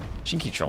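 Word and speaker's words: Shinkichon: Uh, Shinkan still gives plus one range and additional projectiles to them. Is that how I say it? Shinkan. Shinki Chong. Shinky Chong. Like a long O like ocean, but otherwise, yeah, like ocean.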